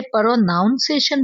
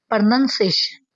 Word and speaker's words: pronunciation: इसे प्रोनाउन नहीं बोलना। ठीक है? प्रोनाउंसिएशन नहीं बोलना। इसमें नाउन नहीं बोला जाता। बल्कि यह सही है। प्रोनंसिएशन प्रोनंसिएशन प्रोनंसिएशन ठीक है?